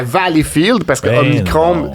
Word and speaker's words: Valleyfield: On dit Valleyfield. Y a-tu Valleyfield? des Ouais, on hymnes prononce nationaux pas- aux on prononce régates?